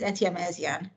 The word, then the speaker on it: Etyemezian: And my last name is Etyemezian, just for the record.